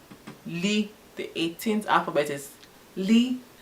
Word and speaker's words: l: The 18th alphabet is Li, written as L, pronounced as LEE.